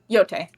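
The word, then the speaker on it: Yōtei: I'm listening to how to pronounce. I can hear it. It's annoying. He's giving me a whole thing. Yote.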